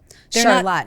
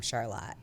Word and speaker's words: Charlotte: So, um, Charlotte, not to be mistaken with Charlotte. Charlotte, even though it's spelled exactly the same way.